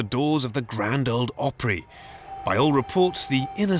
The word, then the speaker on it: Opry: for 80 plus years the word opry is country music's way of pronouncing opera how quaint but this